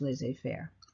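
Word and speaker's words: laissez-faire: competition you years ago someone coined the phrase lays a Fair capitalism and that's the way you pronounce this Liz a fair so it's a circle and a cycle and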